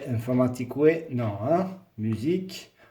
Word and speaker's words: informatique: Musique, informatique, non. Hein? Musique, informatique. UE ne se prononce pas.